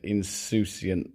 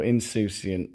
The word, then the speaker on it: insouciant: Yeah, I think I got thrown off by the word insouciant there, as I pronounced it incorrectly. So insouciant, yeah, into bowls, not balls.